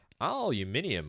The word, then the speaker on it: aluminium: aluminium or indeed aluminum depending on how you say it.